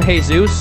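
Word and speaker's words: Jesús: here tonight with him hey Zeus I believe is the proper pronunciation yes and you are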